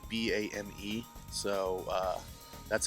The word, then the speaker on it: Boehm: it's German last name the O the E and the H they all make an a sound so it's like b a m e so uh that's how